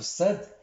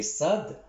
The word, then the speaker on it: صاد: On pose notre langue sur les dents, on dit sin, mais sad, on pose notre langue en haut de la mâchoire supérieure.